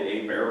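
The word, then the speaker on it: Hebert: They're called the A-Bear box. It's spelled H-E-B-E-R-T.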